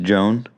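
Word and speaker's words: Jeanne: So probably pronounced Joan. Perhaps, but that is not how the Little Sisters that came to visit pronounced it. Jean. They pronounced it Saint John Gheon.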